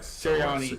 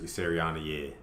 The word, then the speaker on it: Sirianni: Coach, how do you pronounce his last name? Nick it's like Sirianni. Sirianni, yeah.